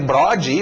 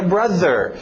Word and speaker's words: brother: E eu chegar para um gringo e dizer brode, ou brother, ele não vai entender isso. Eu tenho que falar a pronúncia certa, que é brother. É estranho, é difícil para brasileiro, porque nós não temos esse TH.